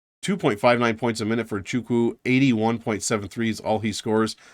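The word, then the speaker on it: Nwachukwu: and chukwu or uh chukwu I guess is how you pronounce it don't say the end um 2.59 points a minute for chuku 81.73 is all he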